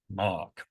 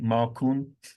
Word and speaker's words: Mark: My name is Mark. So I am number six. Mark, one syllable. There lots of languages in in the world where actually that's quite difficult and people, you know, when I get an extra syllable like maron, marker, marco. I'm I'm Mark.